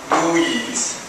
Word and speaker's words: MOOIs: So, MUIs, pronounced MUIs, like muy bueno, muy bueno.